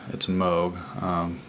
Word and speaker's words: Moog: If you're not familiar with Moog at all, it looks like it's pronounced Moog, but it's Moog. Bob Moog was the guy that started a whole lot of synth stuff back in the day.